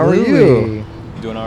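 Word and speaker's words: Luis: We just had a We Louis. just had a Louis. Was it always Louis, or was it ever going to be Louis, or? It's spelled with an S. So it's L-U-I-S?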